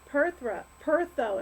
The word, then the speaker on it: Perthro: Alright, so it looks like it is Pertho, it's pronounced. Even though it's spelled like Perthro, it's pronounced Pertho.